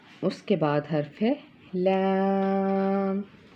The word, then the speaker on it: لام: یہ حرف ادا ہوگا۔ pronounced from the edge of the tongue touching the gums of all top four front teeth۔ ٹھیک ہے، اس کے